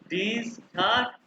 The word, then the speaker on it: Dienstag: मोंटाग, डनस्टॉक, dine नहीं, Dienstag ये हमने पढ़ा हुआ है। या आई ई जहाँ डी आएगा ई के बाद, Dienstag।